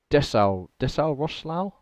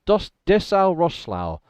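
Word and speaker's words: Dessau-Roßlau: Dessau Roslau? That I think didn't help so, me anything. because that weird B is pronounced as an S.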